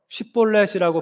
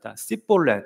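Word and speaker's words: Shibboleth: 벌렛이라는 단어를 발음해 보라고 시켰는데이 아마도 에브라힘 사람들은이 부드러운 쉬을 잘 못했던 거 같습니다. 그래서 쉬볼렛이라고 발음을 해야 되는데 에브라임 사람들은 자볼렛 이렇게 발음을 했습니다.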